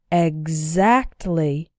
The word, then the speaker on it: exactly: that in these words the x is pronounced like G exactly executive so what's the